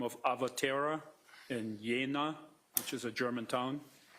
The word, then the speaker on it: Jena: Kupka, who was the managing director of Avatera Medicals, A-V-A-T-E-R-A Medical in Jena, J-E-N-A, Germany. Yeah, it's pronounced Jena.